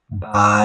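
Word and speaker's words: 白: So how do you say white by? You see it is a it is a rising tone.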